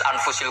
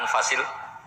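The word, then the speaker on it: أنفس: Di sini ditulis anfusil kutub. Selalu saya baca anfasil kutub karena maknanya kitab terbaik. Kalau kitab terbaik bacanya bukan anfus tapi apa? Anfas. Ya nanti kamu debat sendirilah sama teman-teman ini bacanya apa.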